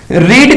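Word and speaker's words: read: को दिखाने के लिए रीड का जो होता है वो रेड रेड ही होता है लिखने में तो वही स्पेलिंग लिखी जाती है लेकिन रीड रेड रेड प्रनंसे किया जाता है तो उससे हम रेड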